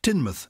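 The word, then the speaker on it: Teignmouth: up the great work interesting he comes from tinmouth which is spelled t-e-i-g-n month so funny it's it's actually spelled Tay in the mouth but it's pronounced tinmouth I would say Tain math and he said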